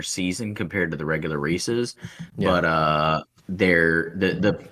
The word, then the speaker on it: Reese's: my next Point uh if you'll notice I pronounced it Reese's because there's a weird bit of the population out there that calls it a Reese's um which it you know if we think the Easter Bunny is fictitional so is the pronunciation of Reese's okay I don't know